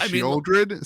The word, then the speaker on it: Sheoldred: It's actually Sheoldred. Sheoldred, is that how you pronounce that, Josh?